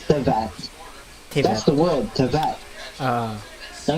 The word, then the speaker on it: Teyvat: Tevat, yun yung spelling, Tevat, Teyvat, but it's pronounced as Tevat.